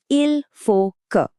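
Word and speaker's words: il faut que: इसे बोलते हैं इल फो क। ध्यान रखिए इल नहीं ईल। फो में आखिर का जो टी है वो बिल्कुल साइलेंट रहेगा और एंड में क।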